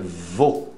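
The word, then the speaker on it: veau: Novilho é vô. Como se fosse avô, você tira o A, vô. É quase, é próximo. Para você que está começando agora, pode entender que seja assim, vô.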